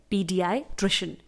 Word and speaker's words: paediatrician: को बोला जाता है पीडियाट्रिशियन। अब मैंने यहाँ पर बच्चों के पा इसलिए बोला है क्योंकि पीडियाट्रिशियन की स्पेलिंग शुरुआत ही होती है PA से, जबकि इसे हम प्रोनाउंस करते हैं PDI यानी पीडियाट्रिशियन।